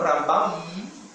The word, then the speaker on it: Rambam: que está hablando de, si yo digo Ramban y no Rambam, entonces usted puede pensar, está hablando de Nachmanides, estamos hablando de Maimónides.